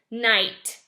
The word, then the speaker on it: knight: is this say hmm start with the MM sound cuz it's silent k mmm I this says ight night like in the story we're reading for fairy tales we're learning about knights and kings and queens and princesses and princesses so night that's a silent K word that you might notice